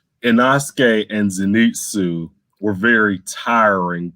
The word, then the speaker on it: Inosuke: I'm sorry, how you pronounce his name? Inosuke?